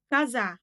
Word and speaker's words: коза: Бұл жерде бізде коза ударение соңғы әріпке түсіп тұр.